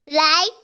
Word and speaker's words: light: Is यस, कौन सा silent है यहाँ पे बताओ? G or H? यस, जी और एच। एक मिनट, रुको रुको रुको, सब मैं मत करो, समझने की कोशिश करो। ओके, यहाँ पे जैसे ब्राइट में भी जी एच था, लाइट में भी जी एच साइलेंट है।